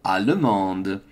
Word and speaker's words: allemande: And I'm going to do the same thing for the word allemand, where I'm going to pronounce that E.